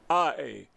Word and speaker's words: Corradi: Corradi. He may pronounce it differently because it sounds like karate, but that's the way it looks to me, so I say karate.